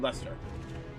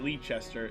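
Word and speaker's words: Leicester: know this is called Lester not leester it's Lester this is Portsmith not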